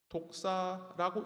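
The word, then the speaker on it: δόξα: 헬라어로 독사라고 읽히는 영광의 원어적 시작은 가치 판단으로서 무엇이 더 중요한지 평가하는 의미가 들어 있습니다.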